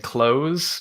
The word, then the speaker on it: Close: Usually people trip up on saying close, but you nailed it.